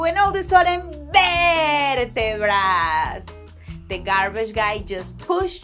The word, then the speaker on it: vértebras: Vertebras. And you have to pronounce it really elongating, that ver part.